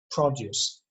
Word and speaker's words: produce: Please pay attention that the noun has a stress on O, produce. There is a verb to produce, but here you pronounce it produce.